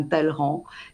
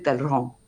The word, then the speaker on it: Talleyrand: Il est attesté qu'il ne prononcera jamais correctement le nom de Talleyrand. On disait Talleyrand, mais on dit Talleyrand en français.